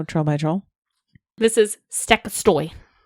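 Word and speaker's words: Stekkjastaur: This is Stekkastoy. Not how I would have pronounced I know.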